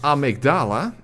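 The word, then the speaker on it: Amygdala: oh I me dar as you can hear here it is pronounced amigdala in the game but of course it's actually based on the amydala so interesting all right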